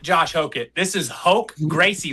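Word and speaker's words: Roger: This is Hoke Gracie. That's R in Portuguese. Gracie. Yes, in Portuguese, we pronounce that with an H.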